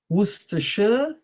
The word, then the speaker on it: Worcestershire: Gloucester, Leicester, Worcester, Worcestershire, Yorkshire. Okay. So this just to demonstrate to you how difficult English pronunciation is, and it's always good to do